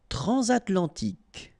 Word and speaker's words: transatlantique: Transatlantique. Okay, so at the end, tic. Remember Q-U-E, K. Okay. Transatlantique.